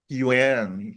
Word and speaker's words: Yuan: O take note, Ma'am Trix, Yuan. Hindi siya Yen. yuan.